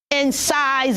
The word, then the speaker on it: incisor: pronounce it as so can we say that in size will you show me your incisor oh yes thank you children so do not say exercise you should say in size are very good next very quickly is yeah